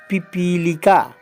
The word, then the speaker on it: पिपीलिका: लिका पी पी लिका यह ध्यान रखिएगा इसको जल्दी बोलेंगे इसको देर तक बोलेंगे इसको जल्दी बोलेंगे पी पी पी लिका पी पी लिका पिपीलिका इस प्रकार एक